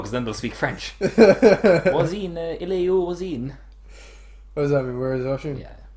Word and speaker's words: Oisin: Oisin didn't want me to show.